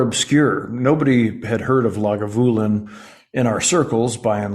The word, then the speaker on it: Lagavulin: my favorite Scotch was log of Woolen 16. uh lagavulin I've been corrected in the pronunciation uh the the accent is on the voo lagavulin uh I said holy